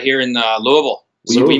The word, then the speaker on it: Louisville: Fred, are you in Louisville, Kentucky? Is that where you're at? Oh, you said it Yeah, wrong. I'm in the heart of the spirits capital of the world, man. We're right here in Louisville.